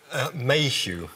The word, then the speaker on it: Mayhew: Da izgovore sami, vi ćete pričati naravno engleski, ali izgovorite sami sve ime da ja ne griješim u akcentu ili ne znam. Mayhew. Mayhew, u redu, gospodine Mayhew.